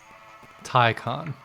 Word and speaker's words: Taycan: Taycan.